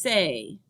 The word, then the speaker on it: ces: It's just say. It rhymes with the word say, right?